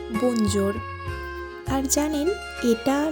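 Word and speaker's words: bonjour: মানে হলো hello actually এটার ইংলিশ প্রোনাউন্সিয়েশন হলো বঞ্জর আর জানেন এটা না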